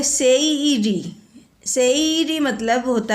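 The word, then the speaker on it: seiri: है ना पहला है एस ई आई आर आई इसको पूरा कहते हैं सेरी सेरी मतलब होता है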